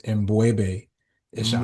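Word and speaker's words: M'Bwebe Ishangi: So the correct pronunciation of my name is Mbwebe Ishangi.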